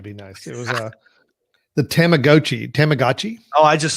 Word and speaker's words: Tamagotchi: It was the Tamagotchi. Oh, I just spelled it wrong. I pronounced it wrong. Was that it? You Meow meant to say Meow Tamagotchi. Pronounced Tamagotchi.